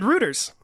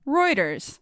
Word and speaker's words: Reuters: I said Reuters. And I was thinking in my brain that it was Reuters.